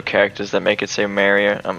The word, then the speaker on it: Mario: with their photo mario some people say it like merrier what do you think of that that's the troll way to say mario it's in i mean